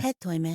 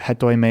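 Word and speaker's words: ἑτοίμη: But because the final syllable is this ita, which is considered a long vowel, it pulls the accent onto the second syllable, so instead of hetoime, it should be hetoime.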